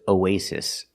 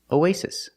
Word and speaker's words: oasis: wants to study abroad our next word is oasis this pronunciation is very different oay you have two syllables with OA it's split and you have two syllables OA Oasis the stress is on the second syllable a